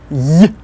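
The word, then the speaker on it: й: The way it actually sounds is Y, Y, Y, like a Y at the end of boy.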